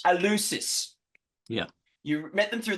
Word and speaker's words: Eleusis: How do you pronounce it? Eleusis. Eleusis.